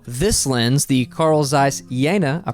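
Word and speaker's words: Jena: In case you missed my video about this lens, the Carl Zeiss Yana, I pronounced it right this time.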